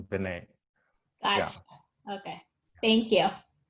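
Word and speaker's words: Verná: V-E-R-N-A, but then it's got an apostrophe on the A, so she pronounces Vinay.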